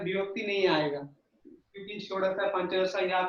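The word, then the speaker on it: पञ्चदश: अच्छा, ये अम्मा ये पंच ऐसा उच्चारण हिंदी में होता है। संस्कृत में हम लोग जब उच्चारण करेंगे पंच, ये आकार का उच्चारण स्पष्ट होना चाहिए।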